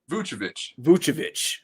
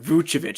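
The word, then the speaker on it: Vučević: Vucevic. All right, Vucevic.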